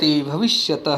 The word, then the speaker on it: भविष्यति: कौन सी ए क्या रूप लेता है भविष्य भविष्य तय है विसंगति भविष्य सी भविष्य भविष्य भविष्य भविष्य भविष्य में शुद्ध उच्चारण करना है कि भविष्यति मतलब होगा भविष्य